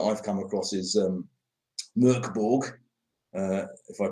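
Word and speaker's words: Mörk Borg: of that that i've come across is um murkborg uh if i pronounced that correctly you did you didn't you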